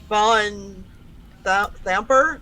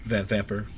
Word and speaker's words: Van Thamper: I think it's Van Thamper is really how you say it. Van Thamper? Yeah, the van is the emphasis. Van Thamper.